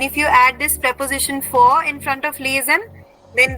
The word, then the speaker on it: vor: Remember, VOR will be pronounced as the alphabet F, for.